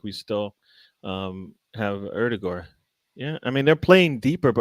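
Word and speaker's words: Ødegaard: Erdegaard. And that's what I was told by a Norwegian. Norwegian told me that's how they say his name.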